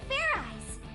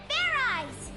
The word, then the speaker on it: Fairize: Do it again, and this time make sure you pronounce the Z. Fear eyes. Fear rice. Get ready. Okay. Command. Fear eyes. Fair rice! And you just stabbed yourself in the stomach. Fairize transformation complete.